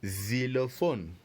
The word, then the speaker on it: xylophone: Xylophone is spelled X-Y, which is pronounced Z. L-O, which is pronounced lo. And P-H-O-N-E, pronounced phone. So le xylophone.